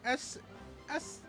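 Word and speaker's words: Sah: Constable Royal Bees S-A-H. Nothing. No, it's Sa. Like he's saying sir.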